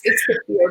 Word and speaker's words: kefir: Yeah, I do, but I always pronounce it kefir. Maybe I'm the okay. I looked it up. It's okay. It's kefir, but that's okay.